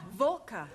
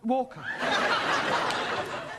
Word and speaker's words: Walker: drivers at Mrs Walker Walker what w is pronounced your employer's name is Walker yeah volca do you know how